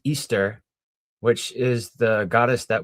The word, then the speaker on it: Ishtar: the Hebrew understanding uh and Ishtar being pronounced as Easter, which is the goddess that we celebrate during the Easter holiday.